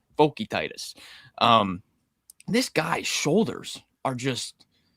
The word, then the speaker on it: Vokietaitis: The broadcast was saying his name wrong all night. I'm like, I don't know what pronunciation guide you guys are looking at, but Vokietaitis.